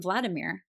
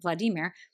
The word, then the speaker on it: Vladimir: character of the name Vladimir. I just said it wrong, Vladimir.